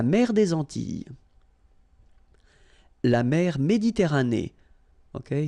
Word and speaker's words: Méditerranée: La mer Méditerranée. Okay, here final not pronounced, but then you pronounce this E at the end.